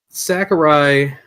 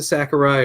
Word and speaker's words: Sakurai: told you already like him a lot but Sakurai did I say his name right isn't Sakurai is it Sakura I think you said it